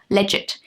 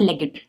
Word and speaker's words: legit: Don't ask me why it is silent, I don't. It means legit, not legged.